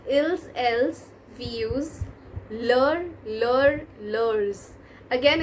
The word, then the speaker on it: leurs: So with ils, else, we use leur, leurs. Again, it's not pronounced as leurs, let me tell you, but just for